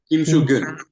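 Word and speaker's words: Kim Swoo-geun: How do I pronounce his name? Kim Soo-gun. Kim Soo-gun. Yeah, Kim Soo-gun.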